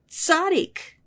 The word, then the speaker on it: tzaddik: And that funny sound at the beginning of the word, that tz sound, well, I bet you already say it all the time. When you say pizza, it's the same sound as the double Z in that word, pizza.